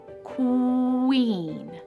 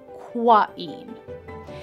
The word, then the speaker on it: queen: But listen to this word, queen. Qu is the sound we hear in queen, not quain.